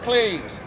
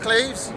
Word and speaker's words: Cleves: But when the portrait was handed to Henry, he looked at it and pronounced it Anne of Cleves. And no one argued. We've mispronounced it ever since.